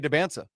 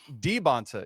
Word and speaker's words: Dybantsa: Andy, we just went to BYU's roster where each player pronounces their own name. Yeah. And holy smok I've been saying AJ Debansa for the past three years. Andy Debbansa Debonsa.